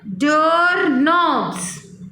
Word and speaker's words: doorknobs: Can you imagine a world without clocks, computers, or even doorknobs? What is this? Doorknobs. Again read it. Doorknobs. Look here, students. Beta, look here. This K is silent. We will not read this K.